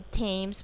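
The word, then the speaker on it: Thames: फिर क्या हुआ, थेम्स, यानी कि थेम्स बोला जाता है, उसमें हम H साइलेंट रखते हैं.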